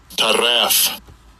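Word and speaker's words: טרף: Let me give you a pronunciation of this one. H2963. Taraf.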